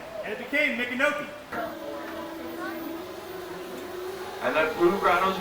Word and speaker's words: Micanopy: Y'all will be joining Captain Mike aboard the Chief Micanopy, or if you want to say it properly, Miko Hanabi. Miko is the Seminole honorific for chief, and Hanabi was his name.